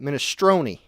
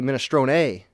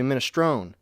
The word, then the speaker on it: minestrone: really nice minestrone yeah i pronounced the last e on that ministroni it's technically minestrone a most people say menostrone but i say mean astronee best of both worlds wrong in both ways and new england clam